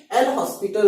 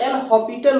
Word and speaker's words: L'Hospital: इसको कुछ लोग एल हॉपिटल रूल भी बोलते हैं, एल हॉपिटल रूल या लैक्टल रूल भी कुछ लोग बोलते हैं, ठीक है। तो प्रोनाउंसिएशन पे आपको नहीं जाना है, एल हॉस्पिटल रूल भी बोल सकते हो, एल हॉपिटल रूल भी